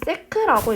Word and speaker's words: sec: 자, 그래서 단위를 보면 힘은 뉴턴의 단위를 갖고 시간은 세크, 세컨드의 약자, 세컨드. 그래서 세크라고 읽는 거예요.